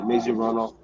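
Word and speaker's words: Mazie Hirono: Yeah, Maisie Hirono.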